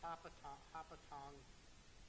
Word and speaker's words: Hopatcong: Mail Peck Road and Hopatong Avenue, which is spelled as Hopatcong Avenue.